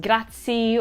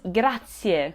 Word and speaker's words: grazie: Instead, it is pronounced grazie. The E at the end of grazie is not stressed, and it is not very loud, but it is there.